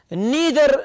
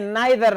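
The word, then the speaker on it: neither: तीसरे को देखे, नीदर नार, या फिर आप कह सकते हैं नाइदर नार, both are correct pronunciations, right.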